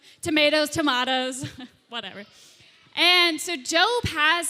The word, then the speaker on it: Job: of job it kind of it looks like job but it's actually pronounced job you love the book of job i'm glad